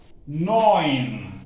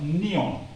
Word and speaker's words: neun: Neon. It is neun. EU, I told you, is oi. Whenever you come across EU, is oi. Neun.